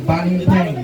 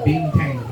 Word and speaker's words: banteng: Once again, it's pronounced banteng, not binteng.